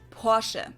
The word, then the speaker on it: Porsche: it Porsche or Porsche in German we say Porsche so there is like this short a sound in the end Portia it was founded by